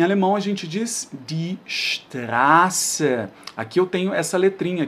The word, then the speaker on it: Straße: Só que sempre que eu tiver uma vogal, né, antes aqui desse SZ, essa vogal eu vou demorar um pouquinho na hora de pronunciar, vai ser uma vogal longa. Então, die Straße, demora mesmo um pouquinho para falar.